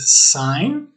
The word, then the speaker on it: sign: find in english um if you look for example the words sign we don't pronounce the g as opposed to signature we do pronounce this first um of course